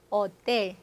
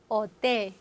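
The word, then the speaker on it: hotel: H 발음 없는 거. 어텔, 어텔, 오스피탈, 오스피탈. 그래서 H는 발음이 안 내라는 것은 이렇게 항상 기억해 주셔야 되겠어요.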